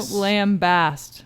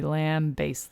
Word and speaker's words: lambaste: that's true lamb based we don't lambast something no you're lying we lambaste them that's right that's brush